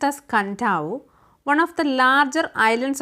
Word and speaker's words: Kadavu: So, കഡാവു island അല്ലെ കണ്ടാവു എന്നാണ് അതിൻ്റെ കറക്റ്റ് പ്രൊണൗൺസിയേഷൻ.